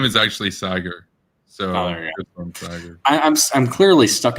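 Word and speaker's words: Saagar: with crystal inside with kgb crystal and sad cigar yeah i just realized his name actually is pronounced that way but it sounds like a cigar no i know his name is actually sagar so i'm i'm clearly stuck in the anglo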